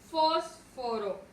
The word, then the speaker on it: fósforo: Y tenemos la última palabra que es fósforo. Fósforo. Su mayor fuerza de voz recae en fos.